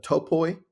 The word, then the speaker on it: topoi: One of them that stood out for me was the topoi. Is that how you pronounce it?